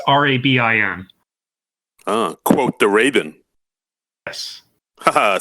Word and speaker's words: Rabin: It's Rabin.